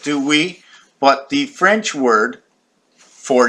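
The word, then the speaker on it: oui: e w right do we what the French word for yes the French word for yes is we if I take away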